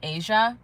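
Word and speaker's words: Aja: It is pronounced like Asia, literally like the country or the continent of Asia, but it's it's it's not spelled like that.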